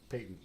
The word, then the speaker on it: patent: well thank goodness for that that one is pronounced patent peyton yeah yeah patents for inventions you have patent